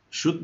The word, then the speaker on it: should: name is good CEL when you pronounce this word the L is silence we don't pronounce it okay it's not world